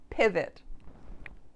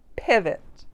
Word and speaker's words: pivot: And that O is pronounced as that schwa sound, which is that very short, relaxed uh.